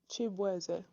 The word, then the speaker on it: Shaboozey: And his stage name, Shaboozey, comes from the mispronunciation of his actual last name, which is pronounced like this. Shaboozey.